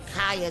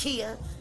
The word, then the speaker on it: Khia: You're not booking Kaya Jeffries. It's Kia.